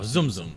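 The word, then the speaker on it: Tsum Tsum: How do you say TSUM? TS is like a Z. Oh, Zoom Zoom.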